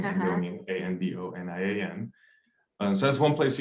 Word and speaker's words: Andonian: So it's spelled just like my name, which is my first name, last name Andonian, Andonian.